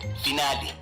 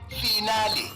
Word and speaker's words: finale: of guide to mispronunciation today's word finale origin Italian pronunciation finale meaning the last part of a series commonly means pronounced as final as if you're are discussing your metric results example I can't wait